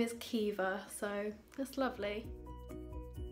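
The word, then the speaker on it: Caoimhe: She's 4 weeks old, and my boyfriend's brother has just announced that she is called Kiva, which is beautiful. It's a Gaelic Irish name. It's spelled C-A-O-I-M-H-E, Kiva, and I love it.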